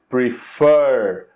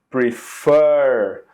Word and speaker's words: prefer: So in this case, we say prefer, prefer. So we have the stress in the last syllable.